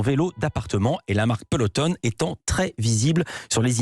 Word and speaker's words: Peloton: vélos d'appartements de luxe, la marque Peloton, ou Peloton si on prononce à l'américaine.